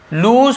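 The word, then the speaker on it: lose: है तो व है लूज पेशेंस ठीक से लॉस नहीं पढ़ेंगे लूज पेशेंस होता है लूज पेशेंस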